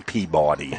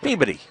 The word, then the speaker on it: Peabody: What do you mean Peabody? It's Peabody.